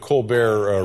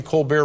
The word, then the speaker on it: Colbert: And how are things on the Colbert Report? Are we still calling it the Colbert Report? Or yeah, we have not found the pronunciation of that T yet.